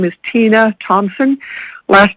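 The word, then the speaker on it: Tomsen: listening to public comments my name is tina thompson last name is spelled t-o-m-s-e-n we know that inlet view elementary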